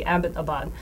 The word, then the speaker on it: Abbottabad: it correctly about know abot abad because it's named after Major James Abbott who was an English major actually so these nameless Abbott so should be Abbottabad okay but that being